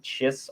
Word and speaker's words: Chiss: And they're looking for this map because Grand Admiral Thrawn is a brilliant tactician from the Chiss army, or Kiss. It's the pronunciation varies at times, but he was the